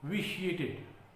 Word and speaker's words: vitiate: The entire atmosphere has been vitiated. It is pronounced as vitiate.